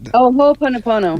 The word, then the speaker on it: Ho'oponopono: It's the Ho'oponopono.